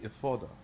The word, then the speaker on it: Ephod: and insertion in the ephod and in the breastplate. So this is the ephod, if you know. Ephod is how it's pronounced here.